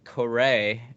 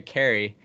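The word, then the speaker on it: Caray: uh at the time I pronounced it chip Correa and I said he was the grandson grandson of Londonderry Harry coray now I deserve a slap in the face because that's Harry Carey uh I can't believe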